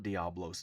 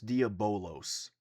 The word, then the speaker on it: Diabolos: I was wrong, not Diablos, Diabolos.